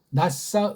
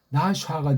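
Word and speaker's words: נשא: 마지막에 모음이 없어요. 모음이 없을 땐 의자 붙여가지고 하면 돼요. 의자. 살짝. 낯싸, 으라고 읽으셔야 돼. 근데 다음은 낯싸, 낯싸라고 읽으라고 하잖아요. 낯싸, 낯싸. 나샤가 되면 속이는 거예요.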